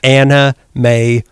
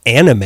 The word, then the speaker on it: Anna May: anna mae wong which i guess i pronounce her name too fast because both you and melissa were like she's not anime yeah anime anime wong i'm not going to enunciate an a to an m sound anime wong were we